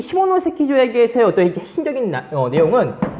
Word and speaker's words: 시모노세키: 발음에 유의하세요. 뭐냐면은, 자, 시모노세키 조약.